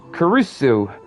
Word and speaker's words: Kurisu: Skill says, also, just so you know, there's an NPC named Chris, but they made his name the Japanese pronunciation of Kurisu.